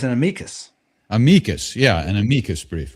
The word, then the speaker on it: amicus: It's an amicus.